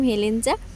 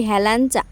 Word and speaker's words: হেলেঞ্চা: বাড়ি কোথায় যেই বললাম হেলেঞ্চা বলছে কি হেলানচা এই কথাটা শুনলে না এত পরিমাণে রাগ হয় বানানটা দেখো ওটাকে কি হেলানচা উচ্চারণ হয় হেলেঞ্চা উচ্চারণ হয় কিন্তু সবসময় জন্য এইদিককার